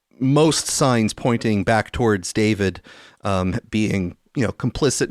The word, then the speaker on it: D4VD: The the musical artist D4 VD, otherwise pronounced as David.